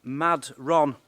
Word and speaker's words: Madron: corner what is this place called again madon Mad Ron madron mad Ron it's called mad Ron that's how it's spelled anyway right I just want to do